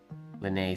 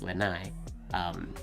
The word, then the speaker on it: Lene: you just told me, rhymes with Renee, but the opposite, and I don't know what I chose to say rhymes with Lenai.